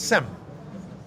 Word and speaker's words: Shem: How do you say Shem in Hebrew, in English? What is the name? Shem. It's Sem. That's why we are Semites. Okay? Because we are descendants of Shem, Semites.